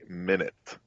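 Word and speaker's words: Minit: were going to play minute it's spelled mi nit anybody wants to look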